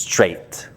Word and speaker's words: straight: That's a little difficult at the beginning because straight has G and H. Uh, don't pronounce them. It's just straight. Okay, go straight.